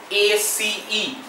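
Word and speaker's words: ace: ঠিক আছে তো দেখো এই জিনিসটাকে বলে এস এ সি ঠিক আছে একে চলতি ভাষায় লোকজন আবার একক্কা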